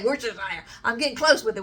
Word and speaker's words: Worcestershire: I'm going to say it wrong, but not as bad as that somebody says, like, where's your sister or something like that. I'm like, I can at least say Worcestershire.